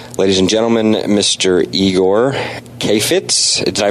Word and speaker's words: Kheifets: and gentlemen Mr eigor Kay Fitz did I pronounce your name right is it Kay Fitz is that how you pronounce your last name yep you actually did you're